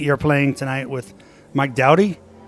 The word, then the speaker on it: Doughty: And Pete, you're playing tonight with Mike Doughty. People pronounce it different ways. I think it's originally Doughty, but it's been Americanized to Doughty.